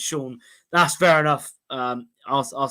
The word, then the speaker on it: Sion: Yeah, a lot of Tom Butler saying Sion Spence is pronounced Sean.